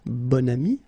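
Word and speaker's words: bon ami: adjective okay and then you pronounce it bonami when you make this link second example so same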